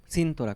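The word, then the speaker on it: Síntora: Cintorá con acento en la I.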